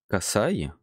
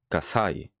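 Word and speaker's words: 火災: Kasai. Kasai. Le sa est un peu plus fort. Pourquoi? Là, avec cet exemple concret, Kasai, ça veut dire incendie.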